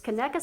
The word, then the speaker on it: Conecuh: sausage called K uh keka I even called her this morning to make sure I could pronounce it correctly but it's keka sausage and it's from Alabama